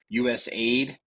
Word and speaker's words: USAID: says wrong says wrong they say it's usaid you can tell they've never heard of this organization because they don't know how to say it it's called USA ID final answer I don't